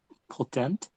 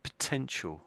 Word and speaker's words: potent: Potent. Yeah, potent. That's it. Potent. Potent. Potent. I think you said potential. I think you said when you read it out.